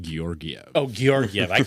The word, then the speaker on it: Georgiev: It's it's also it's pronounced Gorgiev.